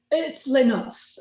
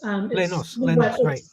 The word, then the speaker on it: Les Noces: It's Les Noces. Les Noces, right.